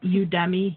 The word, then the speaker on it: Udemy: that they have I don't know if I pronounce the name of this company right but it's udemy ude my and theirs will they'll put their